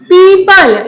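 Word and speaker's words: people: ये पीपल नहीं होता है, मैंने बहुत सारे बच्चों को देखा इसको पीपल बोलते हुए। पीपल नहीं होता है, ये होता है पीपल। और इसकी प्रोनाउंसिएशन भूल जाओ अगर कभी बाय चांस अनफॉर्चुनेटली तो आप पीपल का पेड़ याद कर लेना।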